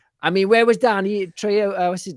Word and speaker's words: Trejo: I mean, where was Danny Trejo? What's his name? Danny Trejo. Trejo. You must have been like busy that week. You were dying to say Trejo then.